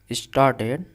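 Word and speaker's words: started: अब यहाँ पे देखिए स्टार्टेड, र इसमें जो आर है वो साइलेंट है, इसलिए र का मीनिंग हम प्रोनाउंसिएशन नहीं करेंगे। र साइलेंट है, आर साइलेंट है, यानी कि इस पे पढ़ेंगे स्टार्टेड, स्टार्टेड, स्टार्टेड, स्टार्टेड नहीं पढ़ेंगे, स्टार्टेड।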